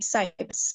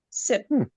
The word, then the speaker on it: cypre: y p r e Sip. We pronounce it as sip. I think it's a French, you know, influence kind of name.